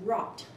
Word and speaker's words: wrought: have different letters and the word is rocked like in wrought-iron hopefully you got it this is not a regularly spelled word like trip some strip where we have the WR representing the error sound and four letters ough representing the awesome and